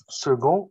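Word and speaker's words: second: طيب في عندنا سيكون وبننطقها السي هنا بننطقها جا. سيكون سيكون سيكوند. زي السكند بالانجلش.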